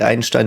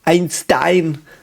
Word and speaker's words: Einstein: So by the way Einstein is pronounced like Einstein, not Einstein.